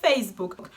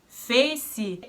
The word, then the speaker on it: Facebook: So where does the Brazilian pronunciation come from? Fac-ee probably because of the e because it's pronounced But I don't get book-ee Because the word is book It's just book, not book-ee It's only with an ending k and after the letter k there is nothing.